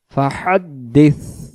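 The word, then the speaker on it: فَحَدِّثْ: তা জেরি বিনিমাতি রব্বিকা ফাহাদ্দিস ফাহাদ্দিস ফাহাদ্দিস মানে জায়গায় ফাহাদ্দিস এমন উচ্চারণ হবে না শেষে যেহেতু সা অক্ষর জিহ্বার আগা থেকে নরম করে পড়তে হয় আমরা এজন্য জিহ্বা আগা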